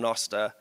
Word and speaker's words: Nostr: out there the first video ever um on nosta where me f jaff um JB and a